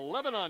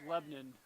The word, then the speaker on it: Lebanon: the east out of Lebanon New Hampshire well the Lebanon well us new hampshirites would say it's Lebanon but we'll forgive you for that mispronunciation since you're not from New Hampshire let me just we